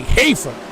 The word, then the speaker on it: Hafer: I'm going to look at the pronunciations. Yes, that's Andy Hafer. I've been saying it wrong this whole time, and I'm sorry, Andy.